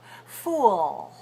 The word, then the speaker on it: fool: to get fo fo now be careful don't put the tongue up too soon make sure it comes after the vowel o fool fool fo and that sounds good that sounds really nice the other thing to